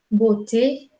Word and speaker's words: beauté: Listo, entonces, italiano, momento, momento, francés, beauté, es una E como plana, como con una I, premio, momento, beauté, el inglés no la tiene, pero el alemán sí, geben, geben.